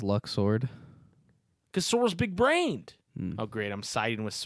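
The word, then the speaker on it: Luxord: who exactly are you Luke sword he says Luke sword and that makes me angry because I was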